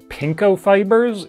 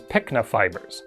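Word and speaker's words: pycnofibers: believe throughout the video I pronounced it pinko fibers even though what I was trying to say was pikna fibers which is a term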